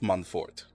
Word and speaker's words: Montfort: Fort of Montfort. I believe is how you say it.